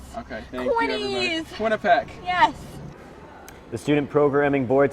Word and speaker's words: Quinnipiac: how to pronounce Quinnipiac. it. Yes. Yes, Quinnipiac.